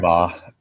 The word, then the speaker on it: Weimar: Weimar. It's pronounced the German way.